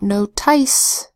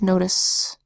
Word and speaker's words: notice: says assignment final e so it's not note ice its notice because TI c e is an unstressed syllable same with promise we